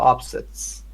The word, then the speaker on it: upset: sleeves frequently suffer emotional upsets. Hmm. Very good. When it is a noun, it is upset. When it is a verb, it is Um, upset. upset. Second Upset. syllable. Yeah. Yes. The stress changes.